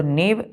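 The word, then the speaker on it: nave: उसको क्या बोलते हैं एन एवी ई नेव तो नेव नेव दोनों के ही ने पढ़ते हैं लेकिन इसका मीस होता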